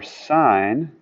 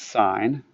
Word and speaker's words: sine: can see that for sine you can say and you should write it like this you should say sine of M you should always pronounce its sign don't say sin don't say cost say